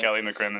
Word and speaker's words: McCrimmon: Kelly McCrimmon.